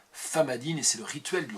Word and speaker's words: Famadihana: Ça s'écrit Famadiana, mais ça se dit Famadine, et c'est le rituel du retournement des morts.